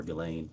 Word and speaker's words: Ghislaine: As best as we know, it's been publicly reported that in 2024, Ghislaine Maxwell, or Ghislaine, I think is how it's pronounced, arranged and wired $1